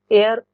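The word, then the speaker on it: heir: of memory great हा एयर यहां पर इसको हेयर नहीं बोलेंगे कई लोग इसको हेयर बोल देते हैं क्योंकि ये जो प्रोनंसिएशन में एच है वो साइलेंट रहता है ग्रेट एयर ऑफ फेम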